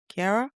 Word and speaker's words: Ciara: Keira? Cuz her name is spelled like Ciara.